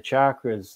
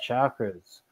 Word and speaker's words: chakra: letters of the Sanskrit alphabet resonate within the chakras, the six chakras, and you can directly influence your own being